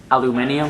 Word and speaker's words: aluminium: Englishmen call it proteins like they call protein aluminium I can't do an English accent but anyway have you heard have you heard that before what that how you say aluminum aluminium aluminium yeah yeah that's cool they pronounce